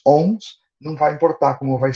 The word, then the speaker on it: Om: Eu vou tentar, o ohm, eles são 2 sílabas, o e que na verdade é um som meio N no sânscrito, mas tudo bem, vamos optar por M, tá legal?